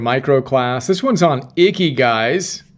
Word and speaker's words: Ikigai: This one's on Icky Guys. It's inspired by the happiness equation by Neil Pasricha. Icky Guys. That's how you pronounce Icky Guy.